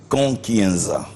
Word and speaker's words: Nkankienza: parmi ces gens-là qui n'arrivent pas à bien prononcer votre nom hein k Kenza c'est comme ça non k Kenza kenzaanambo oui moambo ça j'aime à la fin